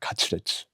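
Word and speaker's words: カツレツ: 커틀릿의 일본 발음이에요. 가츠레치.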